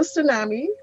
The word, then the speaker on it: tsunami: she correct no okay it's d party spell tsunami t-s-u t-s-t i need you right okay um it's t-s-u-n-a-m-i yes so elena that means what happened to